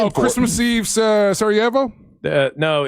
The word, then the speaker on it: Sarajevo: Sarajevo. Christmas Sarajevo. Let me write that down. Yeah, you did phonetically spell it.